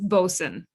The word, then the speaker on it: bosun: And you would never think of it, but that's how you pronounce this word, is bosun.